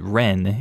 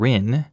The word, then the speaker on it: Rin: I laughed initially, but when I tried to correct him, he was pronouncing it Ren instead of Rin.